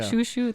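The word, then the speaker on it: Chouchou: how to pronounce anything I think it's shushu yeah shushu the French way um but I liked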